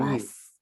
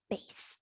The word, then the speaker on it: bass: bass. The bass. The bass. The bass. Yes, it's the bass. That's the correct pronunciation.